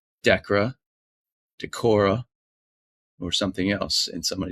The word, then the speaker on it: Decorah: if it was pronounced Decorah, or something else. And somebody said it is pronounced like Deborah. So Decorah, Iowa.